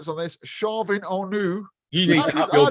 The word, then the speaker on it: Chauvin Arnoux: I tend to, if you speak to Julian, my boss, he says, Chauvin Arnoux.